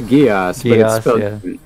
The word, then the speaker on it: Geass: oh dark geass where's it gesh i don't know how it's pronounced i remember liking the anime it's it's geass people are actually interacting